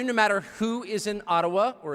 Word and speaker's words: Ottawa: It cannot be taken from you, no matter who is in Ottawa, or as we say, Ottawa, which, by the way, is the correct pronunciation according to my friends in the Ojibwa community.